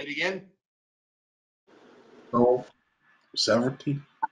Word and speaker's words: severalty: Oh, severalty. It's pronounced like the word. Several. Several. Which screws with you because several means many.